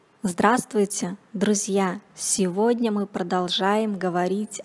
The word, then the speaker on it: здравствуй: Здравствуйте, друзья! Сегодня мы продолжаем говорить об изменениях согласных в речи. Упрощение групп согласных.